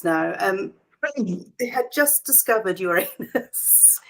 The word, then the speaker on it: Uranus: um had just discovered Uranus Uranus that's how the Americans say it isn't it your anus that's that's how we do it yeah my anus your